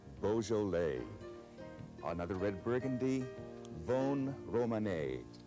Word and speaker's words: Beaujolais: Here we have Beaujolais, Beaujolais.